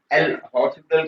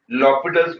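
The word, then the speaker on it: L'Hôpital: will use लॉपिटल्स rule, जिसको कि आप एल हॉस्पिटल के नाम से भी जानते हो, लेकिन प्रॉपर प्रोनाउंसिएशन उसकी लॉपिटल्स रूल है, और उसके हिसाब से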